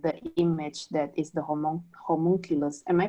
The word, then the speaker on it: homunculus: on my screen the image that is the homunculus am i pronouncing this correctly yes homunculus yeah i just want to show that image